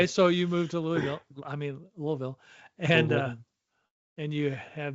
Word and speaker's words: Louisville: Well, not Ville, Vol. Oh, Vol. Sorry. Vol. Yeah, it's a big Anyway, deal. so you moved to Louisville, and Louisville.